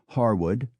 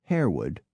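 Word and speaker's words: Harewood: two or more pronunciations h a r e w o d in West Yorkshire has two pronunciations Harwood for the stately home and hawood for the village that surrounds it h d n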